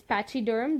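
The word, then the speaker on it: pachyderm: with example let us let's look into the pronunciation once again first word is patchy derm those are huge large I mean lots thick-skinned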